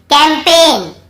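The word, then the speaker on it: campaign: कैंपेन, कैंपेन, कैंपेन, यहाँ पर भी जी साइलेंट है, कैंपेन।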